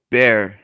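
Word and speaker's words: Bexar: person what san antonio's is called bear and it's spelled b-e-x-a-r jesus christ why um all right bear county i would just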